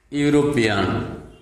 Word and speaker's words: European: before the work example european here we have got this word european e u are pronounced as u so we must use a university here we must